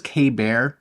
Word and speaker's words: KB Ear: My new earbuds, that is the KB, I think it's KB Ear is how they kind of pronounce it, KB Ear. Pecker. KB Ear. I always thought it was K-Bear, but I think it's KB Ear.